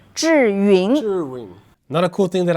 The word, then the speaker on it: Zhiyun: Okay so it pronouncing meaning smart cloud. Awesome. There you go guys. How do you say that again? Juring. Jurine. Jurine. Juring.